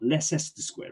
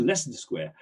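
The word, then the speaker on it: Leicester Square: not good at all if you look at the less the square you know it doesn't really really you know pronounce it as it reads if you think about less than square it's not less s squared right it's a lesson square french is no good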